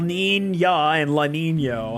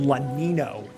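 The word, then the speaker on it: Niño: Like you say Nina and Nino, like the weather systems, man. Like I I don't know. It just feels weird to say El Lina and Lanino.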